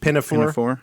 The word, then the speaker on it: Pinafore: the year and it's HMS How do you pronounce this? They said Pinafore.